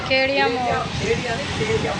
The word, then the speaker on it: खेड़िया मोड़: खेड़िया मोड़, अच्छा खेड़िया मोड़, सॉरी प्रोनाउंसिएशन में गलती।